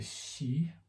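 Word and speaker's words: sidhe: we have a tradition of the shi that's spelled s-i-d-h-e in the gaelic and in my own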